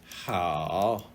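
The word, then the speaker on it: 好: And it's pronounced hao.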